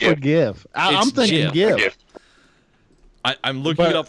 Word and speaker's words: GIF: web illustration, declared it should be pronounced GIF, J-I-F, like the brand of peanut butter, rather than with a hard G sound.